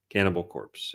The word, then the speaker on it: Cannibal Corpse: Cannibal Corpse or Cannibal Core? I forget how they say it. Cannibal Corpse, yeah.